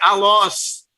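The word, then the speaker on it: ἄλλος: Esta palavra outro, no grego, é allos. A-L-L-O-S. Tá? Assim mesmo. Você pronuncia dessa forma.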